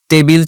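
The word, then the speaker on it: table: টেবিল chair একটা বাংলা শব্দ হয়ে গেছে। সে কিন্তু বাংলায় যেভাবে টেবিল বলে সে আমার সামনে ভাবে টেবিল বলে ফেলতে পারে, বাট এটার প্রপার প্রোনাউন্সিয়েশন হওয়া উচিত টেবল।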